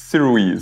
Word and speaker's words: Sirui: from Siri Siri uh okay so apparently it's sirui so I'm just going